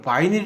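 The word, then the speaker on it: vinyl: 우리가 보통 비닐 있잖아요. 이거 비닐 봉지, 비닐 봉다리 하는 거. 이건 플라스틱백이라고 불러야 돼요. 예, 그냥 우리가 비닐, 이제 정확한 발음은 바이닐인데요. 그럼 바이닐 주세요.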